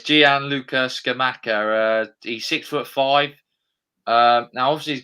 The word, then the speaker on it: Gianluca Scamacca: You can pronounce his name because I'm no good at pronunciations. Yeah, it's Gianluca Scamacca.